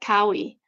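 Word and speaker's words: Kauʻi: So even when a native speaker says my name like Kaui, it's very similar to Maui. However, there is a difference because the O is still pronounced a little more.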